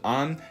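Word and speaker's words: ān: this impersonal meaning of one is actually pretty interesting because it was influenced by French the Old English word for one was an and it was actually kind of pronounced more like on and the French word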